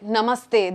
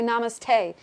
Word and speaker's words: namaste: For example, if you listen to white people say namaste, they can't say namaste. They say namaste.